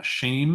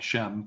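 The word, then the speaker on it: שֵׁם: eight zero three four uh shame that's how it's pronounced it looks like Shem but it is uh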